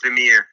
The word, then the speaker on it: Lemire: Well, because I'm French speaking, it's Lemire.